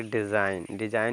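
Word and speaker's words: design: next देखेंगे लिखा है डी ई एस आई जी ji silent N पढ़ेंगे इसको पढ़ेंगे डिजाइन डिजाइन मींस होता है आकृति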